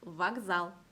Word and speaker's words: вокзал: 같은 규칙으로 вокзал. 이 알파벳 카의 까는 일단 무성음이고요. 이 까의 무성음의 유성음, 짝꿍 유성음은 알파벳 게였기 때문에 마찬가지로 게로 발음을 해주셔야 돼요. vokzal.